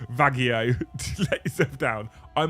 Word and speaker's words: Vallejo: well you're a YouTuber you're meant to pronounce Vallejo with some mental Spanish accent to keep up with tradition that'll go vagio to let yourself down